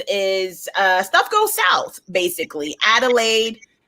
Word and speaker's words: Adelaide: Adelaide, it's Adelaide, right?